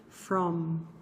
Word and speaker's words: from: As palavras em inglês, quando elas têm um final em M, você precisa pronunciar esse M. Então, você tem que assim bater um lábio no outro e dizer assim, ó, from, tá?